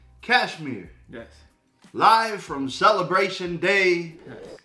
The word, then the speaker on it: Kashmir: don't butcher this i want to say it's pronounced cashmere yes live from celebration day official video the